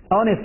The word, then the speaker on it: honest: 那么因此这个 hour 也好 Honest 也好，他们首字母 H 没有发音，所以看